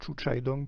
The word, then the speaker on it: Xu Xiaodong: tapez Chu Chai Dong, donc ça s'écrit avec X, hein, c'est XU et puis XIAO, donc ça se prononce Chu Chai Dong plus ou moins, de ce que j'ai compris.